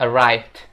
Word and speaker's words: arrived: untuk cara pengucapannya sendiri Ini bukan dibaca arrived tapi bacaannya arrived arrived jadi Ed itu cuma dibaca t doang gitu guys Oke kita lanjut